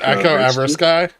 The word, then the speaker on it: Echo Ever Sky: Is it Echo Eversky? It's three words put together.